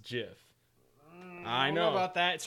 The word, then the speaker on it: GIF: it's a very popular jiff where they made it where he's shooting lightning bolts out of his hands it's Jeff the creator of it even said it is pronounced jiff I know but that's